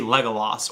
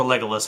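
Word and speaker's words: Legolas: we get to see legal Los or legalis however you want to pronounce it legal Los was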